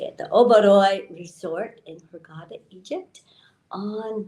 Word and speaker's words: Oberoi: I am here live at the Oberoi, that's how you say it, the Oberoi Resort in Hurghada, Egypt, on the Red Sea.